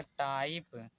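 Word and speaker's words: type: Word के last में मतलब जैसे यहाँ पर लिखा है बी आई के ई तो ये लास्ट में ई है तो इसलिए ये साइलेंट होगा। तो यहाँ पर हो जाएगा बाइक, यहाँ पर हो जाएगा टाइप, यहाँ पर होगा नेम।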